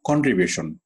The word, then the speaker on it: Contribution: ওকে, প্রথম উচ্চারণটা একটু এক লাফে কি হবে, উঠে যাবে, শক্তিটা একটু উঠবে, আবার কি কন্ট্রি একটু উঁচু, গলা শটটা উঁচু হবে, আবার বিউশন বলার সময় কি গলা শট নিচু হবে।